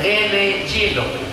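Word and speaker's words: René Guénon: masuk Islam namanya siapa tulisannya r e n e g u e n o n Rene juenon caraembacanya Rene jino tapi setelah dia masuk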